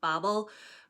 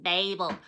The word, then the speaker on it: Babel: And don't be coming at me being like, it's pronounced Babel. I'm British. I say Babel. If you're American, you say Babel. Like, R.F. Kuang says Babel, so shut up, okay?